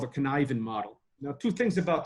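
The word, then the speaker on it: Cynefin: basically rely on the model that's called a connivin model now two things about the connivin model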